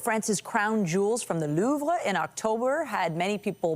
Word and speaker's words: Louvre: crown jewels from the Louvre in October had many people mispronouncing the name of the world's most visited museum. Babel says the correct pronunciation is louv with a soft very soft pronunciation of R.